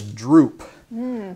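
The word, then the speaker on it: drupe: to talk about is called a droop but it's not spelled like the saggy kind of drink d-r-u-p-e so if you think about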